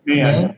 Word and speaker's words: Mann: Mann.